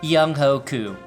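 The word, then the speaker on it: Younghoe Koo: right answer is kicker young way coo properly pronounced young hoku not because of his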